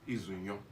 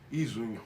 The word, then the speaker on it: Izunyo: Sorry, I know my surname is kind of tricky. Izunyo. Izunyo. That is the right one.